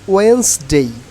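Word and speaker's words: Wednesday: থাকলে কিন্তু ই এর মত উচ্চারণ একটু আপওয়ার্ড উচ্চারণ হবে ওকে আর এইখানে আপনার ওয়েটনেস ডে আর হবে না এখন ওয়েন্স ডেই ওয়েন্স আচ্ছা এটার আমি বাংলায় স্পেলিংটা বলে দিচ্ছি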